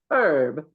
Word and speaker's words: herb: is our talk or if you're an England herb dog they pronounce the h herb and this is sponsored